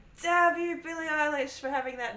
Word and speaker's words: Eilish: i got everything um i got like eelish english was the most common english i got elish i got alice i got alicia i've